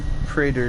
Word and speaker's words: Praetor: Well, I guess it's actually pronounced Praetor suit, but I've always called